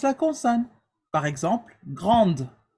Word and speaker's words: grande: Par exemple, grande. So, when you add an E after a consonant, you also pronounce the consonant, right?